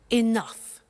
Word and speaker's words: enough: Now, this word enough, it's written E-N-O-U-G-H. The pronunciation is enough.